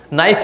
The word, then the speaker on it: knife: Knife की spelling होती है KNIFE. K silent N sir, right?